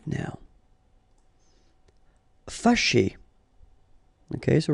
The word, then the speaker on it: Fâché: Fâché. Okay, so remember that here, even if you've got this accent circonflexe on the top of A, well, technically it doesn't really change the pronunciation. Fâché.